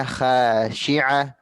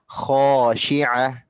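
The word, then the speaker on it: خاشعة: yang ketiga dikata khosyi'ah huruf-hurufnya Bunda itu perlu ditebalkan lagi karena huruf-huruf itu termasuk huruf isti'la huruf yang tebal jadi hop bukan hah Kalau Bunda Ati tadi bacanya hasyiah harusnya khosyi'ah iya kemudian yang keempat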